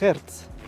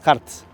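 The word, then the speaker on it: Hartz: laborales que les llamaron las reformas Hertz o Harts, no, Harts.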